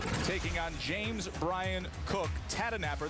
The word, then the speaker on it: Tahdooahnippah: on james brian cook tata napper that is how you pronounce it native american surname for